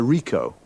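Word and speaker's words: Ricoh: camera uh what make and model it's a rico rico how do you spell that r i c o h got that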